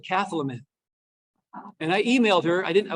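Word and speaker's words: Cathlamet: anchor on one of the local TV stations mispronounce that name, one up from the bottom there. Oops. Everyone knows it's Keflamet?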